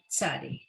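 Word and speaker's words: צ: And then the new letter tzadi, the TZ, tzadi.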